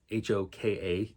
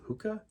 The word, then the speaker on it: Hoka: inhabited by a race of creatures called the Hoka h-o-k-a could be hookah no it's definitely Hoka hakka Hawkeye I don't